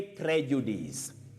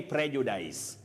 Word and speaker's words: prejudice: now Pacifica of nakuru you say Prejudice don't say prejudice Prejudice and then your second